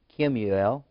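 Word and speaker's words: Kemuel: there was also the third child was uh kimmiel you pronounce that with k-e-m Slash u e l u e l Kim UL the fall of Aram and keys did Keys it that's pronounced k-e-s-e-d I want to say cheese but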